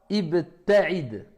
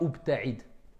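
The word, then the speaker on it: ابتعد: Quand vous allez commencer à lire beaucoup, vous allez savoir que ça ne se dit pas ubta'id. Tout simplement. Vous allez savoir que ça ne se dit pas abta'id.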